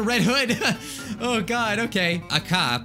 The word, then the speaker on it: Aka: Hood oh god okay a cop probably is how you say it better it meets red